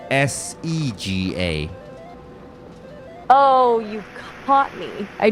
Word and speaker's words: Sega: Yeah, because you said SGA instead of SEGA.